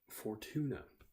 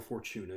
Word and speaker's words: Fortuna: But this new zone, Fortuna, or Fortuna, depending on how you want to pronounce it, it's a debtor's prison.